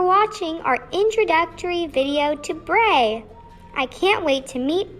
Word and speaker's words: BRAE: and what we have welcome to bray hey that rhymes with yay i'm bibi bray's special